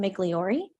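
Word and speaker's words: Migliore: name for the record my name is migliori spelled thank you spell ladder yes please okay is spelled and mcleori is spelled m-i-g-l-i-o-r-e right State thank you good afternoon Miss migliori can you please talk about the jury how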